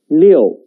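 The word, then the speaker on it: 六: it's a chinese character it means six the pronunciation is leo leo leo please write it with me let's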